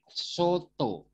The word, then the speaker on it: soto: And this, there are two kind of pronunciation for the letter O. In the word, in this word, you read soto, but in this word, you read topi. Soto, topi. Soto and topi.